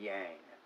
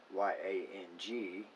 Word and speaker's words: yang: derived from that so when you see y-i-n yen or in y-a-n-g yang not yang there's a lot of